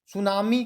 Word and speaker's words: tsunami: सुनामी देखिए लिखा जाता है कैसे, TSUNAMI। देखिए लिखा जाता है स्पेलिंग इसका टी से। सुनामी को जब लिखते हैं इंग्लिश में तो लिखते हैं TSUNAMI।